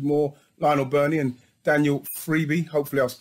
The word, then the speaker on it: Friebe: I believe it's pronounced Friebe. No, can't go wrong with that. That's the Italian iteration.